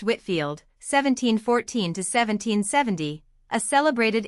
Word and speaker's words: Whitefield: 79, George Whitefield, pronounced Whitfield, 1714 to 1770, a celebrated English clergyman and pulpit or one of the founders of Methodism.